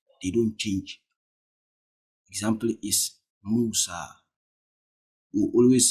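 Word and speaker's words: موسى: You always say Musa, Musa. You never say Musi. For example, if a half a jar comes, you not say Musi. It will be what? Musa. It will still be Musa.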